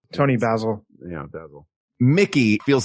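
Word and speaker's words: Toni Basil: Tony Basil.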